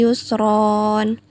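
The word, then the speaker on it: يسرا: Contohnya, inna ma'al usri yusron. Tulisannya yusron, tapi dibacanya yusro karena berhenti atau berada di akhir kalimat.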